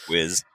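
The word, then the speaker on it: W'z: Is it Wiz? W's? It's spelled W apostrophe Z, which is Yeah. It sounds like Wiz.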